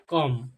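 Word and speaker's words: come: होगा साइलेंट रहेगा ठीक तो इसको क्या प्रोनाउंस किया जाएगा कम सी ओ एम ई कम कम मतलब क्या होता है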